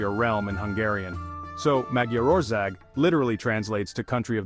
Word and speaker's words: Magyarország: Today we're talking about Hungary, or as the Hungarians call it, Magyarország. Now if you're wondering how on earth to pronounce that, don't worry, you're not alone. Magyarország is one of those words that looks a